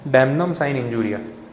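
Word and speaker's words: damnum sine injuria: है, उसको बोलते हैं डैमनम साइन इंजूरिया। मिला? थोड़ा प्रोनाउंसिएशन लैटिन में है, डैमनम साइन इंजूरिया, damage without इंजरी।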